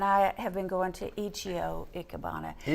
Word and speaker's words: Ichiyo: And I have been going to Ichiyo Ikebana. - (Chris) Ich-i-yo? - Ichiyo, in Japanese I's are pronounced like E's.